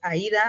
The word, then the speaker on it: Aida: Su pronunciación como tal es Aida, así como lo estamos diciendo ahorita, y es nuestra asistente eh inteligente.